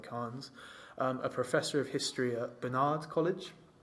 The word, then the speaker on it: Carnes: So it started by a guy called Mark C. Carnes, pronounce it like Carnes, a professor of history at Barnard College.